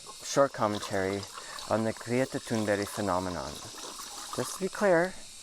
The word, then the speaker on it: Thunberg: Greta Thunberg.